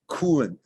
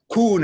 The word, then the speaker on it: Kuhn: I mean, it's a Swiss, a Germanic name, so it would be Kuhn. In Swiss Germany, Kuhn, but it's Kuhn is fine.